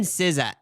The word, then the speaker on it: SZA: look at it, like I didn't know how to pronounce it, but now I just say SZA.